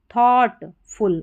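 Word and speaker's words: thought: ऑफ of making making थॉटफुल इसको थॉट पढ़ना है। ठीक है? टी एच ओ यू जी एच टी को थॉट पढ़ा जाता है। थॉट यहां पर जो जी एच है यह साइलेंट है और ओ यू का उच्चारण ओ है।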